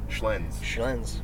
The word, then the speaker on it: Schlenz: And how do you pronounce the last name, man? Schlenz.